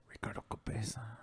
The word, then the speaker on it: Ricardo Cabeza: ox oxen and uh ricardo cabeza ricardo cabeza roll your r's you